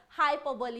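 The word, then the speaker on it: hyperbole: इसका प्रोनाउंसिएशन बहुत बार हम गलत पढ़ते हैं, सही पढ़ेंगे, है ना। तो क्या होगा भाई, हाइपरबोली। हाइपर बोले कुछ लोग बोलते हैं, कुछ लोग और बोलते हैं, तो हाइपर बोले कोई टर्म नहीं होगा,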